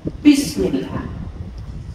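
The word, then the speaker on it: بسم الله: Kesalahan pertama, berlebihan dalam menekankan huruf ba pada Bismillah sehingga terdengar seperti huruf P. Bismillah, Bismillah, ya, Bismillah. Padahal ba itu dari bibir bagian dalam, di, bukan pi, bukan, tapi bi.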